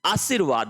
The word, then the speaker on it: आशीर्वाद: आशीर्वाद होता है।